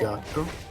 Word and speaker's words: gatto: Okay, now double the T and say that again. So, is it the same pronunciation, or is it like a longer pause, like gatto? That's almost perfect. It's Oh. gatto.